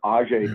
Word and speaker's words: Eiji: I guess I never knew how to pronounce Mr. Toyota's name, and this is Ajay Toyota, so EIJI.